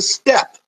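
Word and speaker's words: steppe: know the name it's it's pronounced step like oh it's five steps up to that door but it is sort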